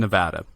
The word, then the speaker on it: Nevada: I'm really happy to be here, and I'm very proud that you pronounced Nevada correctly, because that's something that Nevadans take very personal when it's called Nevada. So thank you for making the correct pronunciation.